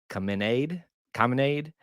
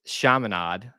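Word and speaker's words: Chaminade: probably pronouncing it because some people would say Kade commade but I think it's shamad Madonna prep uh it's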